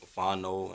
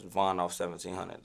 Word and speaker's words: VonOff1700: Yeah, they be calling me all type of dumbass shit. Like Vono and Von Off and all type of shit. It's VonOff1700 though. Do people misspell it?